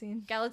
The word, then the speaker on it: Galitzine: Galitzine? Kind of like magazine.